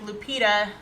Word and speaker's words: Lupita: yes it's me Eric But Eric pronounces it wrong it's more like Lupita Accent on the second syllable glad you're healing slowly